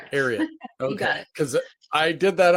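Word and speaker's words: Ariat: You know, prior to the pandemic, you're the VP of Denim, a very Tell me if I'm pronouncing it right. Ariot or correct? Ariot.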